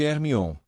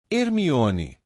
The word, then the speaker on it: Hermione: Hermione agora ensinava Krum a pronunciar seu nome corretamente, ele não parava de chamá-la de Hermione. Hermione, dizia ela lenta e claramente.